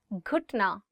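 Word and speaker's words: گھٹنا: घुटना, knee. घुटना, knee. One more time. घुटना. So it is gaf and you're adding it with he and it becomes gh, gh. घुटना.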